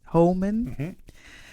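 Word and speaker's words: Homan: How does he pronounce it? Hman.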